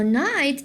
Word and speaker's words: knight: You will say knight or you will say night. What do you think? Yeah, I never hear the word. It's called knight, so it's probably night. So night is the right pronunciation. Okay, but what about the K right here? I can see a K right here. Yes, this K we will call it consonant pattern with the N, and the K right